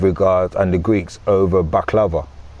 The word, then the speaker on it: baklava: You see, so and they pronounce it baklawa with a W.